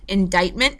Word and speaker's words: indictment: by grand jury and I know indictment doesn't look like at all how it is spelled but that's how it's pronounced indictment by grand jury and basically what this is an indictment is a formal accusation